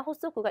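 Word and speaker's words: 発足: 예, 시험에는 호단이나 호소쿠가 1급이 많이 나오겠지만 이 세 가지가 다 뭡니까? 호수로 발음되는 단어이기 때문에 체크해 두시기 바랍니다.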